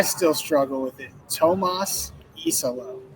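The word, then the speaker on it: Iisalo: Tomas iso. E is in the letter. Yes. Well, and and the thing about it is those two eyes right at the start really kind of throw you.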